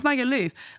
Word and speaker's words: Magaluf: Have you been to Magaluf? Have you been to... am I saying it wrong? No, it's Magaluf.